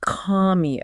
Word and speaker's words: Commio: one right yeah it's from the company called comeo it's c m m IO it's pronounced commo oh comeo okay got it come so they're